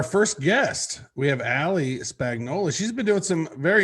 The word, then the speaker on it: Spagnola: Is that how you pronounce it? Spagnola? Yeah. It's like a lasagna.